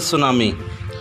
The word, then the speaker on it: tsunami: करने जा रहे हैं इसके अंदर प्रति जो है वह साइलेंट रहेगा हम इसको प्रोनाउंस करेंगे 2 सुनामी तो लहसुन हम स्टार्ट